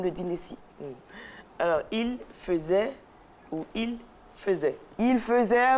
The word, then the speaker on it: faisait: Donc c'est faisait à la prononciation, mais cela s'écrit F-A-I-S-A-I-T pour le singulier et puis pour le pluriel, on va l'accorder.